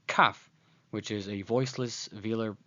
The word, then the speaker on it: kaf: by its first name, kaf, which is a voiceless velar plosive. It makes a k, k, k sound, as in the word kangaroo.